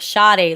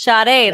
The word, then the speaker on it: Sade: When I say her name, I feel like I'm saying like Sade, like what up, Sade? But it's Sade. I ain't rich, Sade, but I spend a little bit, Sade.